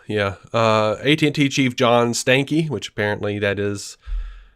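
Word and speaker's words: Stankey: it was big yeah uh AT&T Chief John Stanky which Apparently that is how you say that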